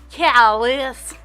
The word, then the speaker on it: callous: Callous. Yeah. We do not pronounce it how it is pronounced over in France. It is callous, not Calais. It's like Target, not Target.